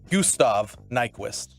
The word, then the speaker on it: Gustav Nyquist: It's Gustav Nyquist. Oh, Gustav. Nyquist is Nyquist. Spell it one more time.